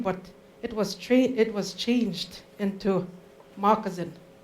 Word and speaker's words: moccasin: It's actually Moccasin, and moccasin is shoe. So that's why it. So if you ever hear anyone pronounce it moccasin, it's because that was the original word, changed to moccasin.